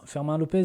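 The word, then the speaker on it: Fermín López: l'entrée du coup de ferment fermant Lopez c'est comme ça que ça se prononce ainsi que bien évidemment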